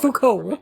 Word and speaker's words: Foucault: This is practically It's pronounced Foucault.